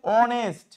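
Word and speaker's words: honest: অনেস্ট না এটা হচ্ছে অনেস্ট তারপর অ্যান আওয়ার অ্যান অনার এই সব শব্দগুলো এস দিয়ে শুরু হলেও এইচ এর উচ্চারণটা হচ্ছে না এগুলোর আগেও সবসময় কি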